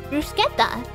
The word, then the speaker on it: bruschetta: It's Italian and it's pronounced like scut. Oh! Bruschetta.